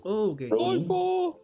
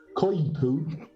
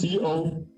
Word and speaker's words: coypu: So, you see this small Coipo. It's called coipo in Spanish. In English, it's called coipu. I'm not exaggerating. It's Coypu.